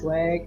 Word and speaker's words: Swag: That's Swag and the W is silent.